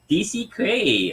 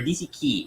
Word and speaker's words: DC Key: DC Kray or DC Key. Oh, Is it I think you it's pronounce it Key.